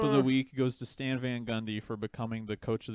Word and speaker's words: Stan Van Gundy: the week goes to stan van gundy for becoming the coach of the new orleans pelicans and having a three syllable name stan van gun just kidding four sobels it's four syllables but uh uh yeah